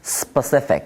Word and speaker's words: specific: 번째 있고는 소리고 그리고 가장 중요한 슈아라 하는 발음인데 여기에 강세가 없다 보니까 소리를 약하게 자기 소리를 잃어버리는 현상까지신다면 specific 이렇게 할 수 있을 겁니다 실제 미국인도 이렇게